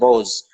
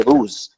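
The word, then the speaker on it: روز: It's called it has the majhul vowels, the long vowels like in der and roz, whereas modern Persian speakers would say ruz.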